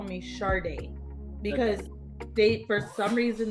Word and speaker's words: Sade: They can say two syllables, Sade. And I said, it's ever since that day, I've said, my name is Sade.